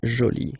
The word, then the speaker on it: jolie: you can see that you put this but then you don't pronounce it okay so it's Jolie so basically the two